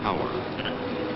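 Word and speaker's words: tour: Each 8-hour work shift in the oil fields is called a tower. Why, nobody knows. It is spelled T-O-U-R.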